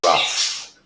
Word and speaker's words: rough: hospital the surface of the ground is very rough tough tough oh okay I had a rough